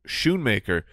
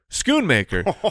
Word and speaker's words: Schoonmaker: I called him Luke Schoonmaker, which apparently it is in fact Schoonmaker, which makes the Scone Man reference even Scone Man.